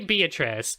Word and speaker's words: Beatrice: Look, Beatrice, we say Beatrice.